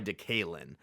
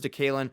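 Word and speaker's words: DeKaylin: by DK Metaf that he actually prefers to go by Dealin. He DK did say he prefers Dalin, but he changed it to DK because everyone kept mispronouncing it.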